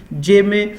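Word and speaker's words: gemmae: ये यहाँ पे प्रोनाउंसिएशन भी लिखी गई है यहाँ पे आपके लिए, जेमे, ये इसको जेमे बोलते हैं।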